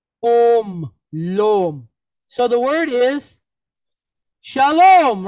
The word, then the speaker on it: shalom: protection and safety okay so Shalom here with loam the accent is on where the end of the word 99 of Hebrew words all have their accent where the end of the word so shalom okay so let's move